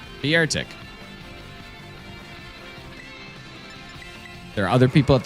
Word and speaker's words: Beartic: It's pronounced Beartic. That's what I said. Beartic.